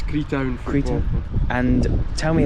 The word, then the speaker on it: Creetown: Is that how you pronounce it? It's Creetown Football Club.